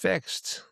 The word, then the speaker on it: FiXT: Fixed, pronounced fixed.